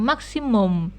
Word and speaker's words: maximum: Jadi UM ini baca seperti huruf O gitu ya, maksimum.